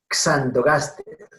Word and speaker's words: Xanthogaster: CS. Entonces, Xanthogaster.